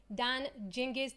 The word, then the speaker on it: Dan Gingiss: talking customer experience with the one and only done jinkies done I'm saying it right can you say